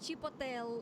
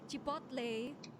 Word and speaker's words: chipotle: So it's not chipotel. I've been calling it chipotel. Turns out this chip chipotle.